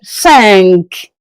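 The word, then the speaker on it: cinq: Sank. As you can see the Q. So the sound of the Q has to come out.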